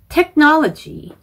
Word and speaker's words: technology: honored, 그리고 colleagues, technology, 이 technology 발음하실 때 technology라고 잘못 발음하시는 분들이 있어요. 끝 발음을 G까지만 하시면 안 되고 그러니까 GE처럼 change 이런 게 아니고 technology 하고 끝까지 진성으로 발음을 E 하고 내주셔야 됩니다.